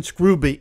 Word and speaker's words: Scrooby: Up in Scrooby (pronounced Screw-bee), England, well north of London, there was a congregation of about a hundred members led by, among others, Pastor John Robinson.